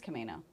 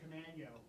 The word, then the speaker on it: Camano: Who's Camino Island named after? Brian? Camano. Huh? He was a captain, Camano. Camano? So we're saying it wrong. Camano head. Camano head. That's People are gonna look at us weird when we start pronouncing it that way.